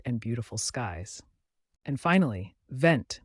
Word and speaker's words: vent: beautiful skies and finally vent meaning wind pronounced V can range from a